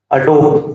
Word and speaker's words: Adobe: Adobe, what you call Adobe actually, the correct pronunciation is Adobe Express.